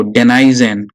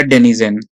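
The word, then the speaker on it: denizen: अब देखो, डेनाइजन या डेनिजन, जो भी बोल सको आप बोलो। डेनाइजन और डेनिजन।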